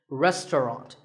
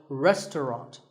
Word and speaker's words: restaurant: fancy spelling confuse you the second syllable is just ton and the third is wrought so restaurant in British English you might hear just two syllables restaurant that is also correct after you eat at